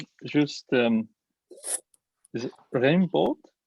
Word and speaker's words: Raimbault: Juste, to make sure that I pronounce the name right. Juste, is it Raimbault? Raimbault, yeah.